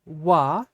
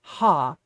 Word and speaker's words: は: I want you to see first that wa is wa, and it's not ha. So usually when we have ha in the middle of a sentence, particularly if it's in the topic particle slot, it would be pronounced wa.